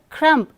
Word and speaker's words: crumb: crumb is wrong okay if you say crumb you are making a mistake in pronouncing the word since the letter M is followed by B okay but so B becomes silent okay not a crumb to be found like numb dum we don't stress on the word letter sorry B so B is silent not a Crump to